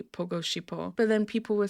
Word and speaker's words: 보고 싶어: The difficulty comes in how to pronounce the letters. So you saw, right, that it was written follow me, shipo. like this. And then he said it properly, pogo shipo.